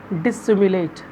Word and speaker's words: dissimulate: Acquaintance, and second is dissimulate. One S is silent here, so we will pronunciate is dissimulate.